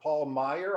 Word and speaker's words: Paul Meyer: And next on my screen, we have Paul Meyer. I hope that's the way to pronounce it, Paul. And that is actually correct.